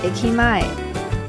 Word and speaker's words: 駅前: 叫做新兵 Ekimae 或是新兵驿前，因为 Ekimae 是日文的汉字，所以它没有中文的发音，但是我